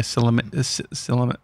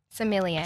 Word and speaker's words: sommelier: Did you have to like get dressed up being a cilimer? How do you say it? This is why you don't make fun of other people who can't say it, mate. Yeah, that's cool. Cilimer? Sommelier. Sommelier. Do you just wear like...